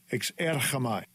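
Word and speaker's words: ἐξέρχομαι: This is the Greek script, and this is how it is pronounced. Strong's G, 1831, exerchamai, exerchamai.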